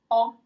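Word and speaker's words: ho: So aka O in Italian. So you don't pronounce the first H.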